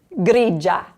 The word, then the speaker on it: grigia: So these top words here are all blended.